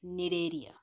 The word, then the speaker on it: Cnidaria: Next phylum we are going to learn is Cnidaria. In this spelling the C is silent.